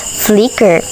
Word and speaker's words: Flickr: Flickr, or pronounced as Flickr, is an image and video hosting website that was created by Ludicorp in 2004 and acquired by Yahoo.